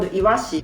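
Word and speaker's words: 鰯: more example is this one this kanji called iwashi one kind of fish it's sardines actually this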